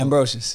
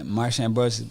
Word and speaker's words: Ambrosius: Now I feel goofy not being able to pronounce her name. It's okay. Marsha It's Ambrosius.